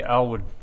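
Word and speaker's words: Alward: So I'm here tonight to represent the Alwood family, with A-L-W-A-R-D. Everybody has difficulty pronouncing it, but it is Alwood.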